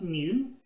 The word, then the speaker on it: mu: you want to pay attention to it it's pronounced mu and it's computed here when we're talking about